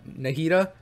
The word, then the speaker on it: Nahida: wrong but I usually usually call her Nadia I think it's called nahida right nahida is her name right so nahida because you